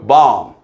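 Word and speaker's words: bomb: 영어 단어가 mb로 끝나면 모든 단어는 이때 비무음입니다. 웅부 아니고 웅 자 새끼양 새끼양 야 새끼양 새끼양 어 램 하고 울잖아요. 램 램 발음하 어 폭탄 본부 아니고 뭐예요? 범 됐죠?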